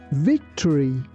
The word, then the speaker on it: victory: Here, be careful that we don't say victory. We say victory.